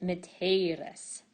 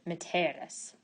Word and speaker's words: mitteris: The E in the second person singular future passive is long, and we pronounce it miteris. However, it's short in the present passive, and we pronounce it miteris.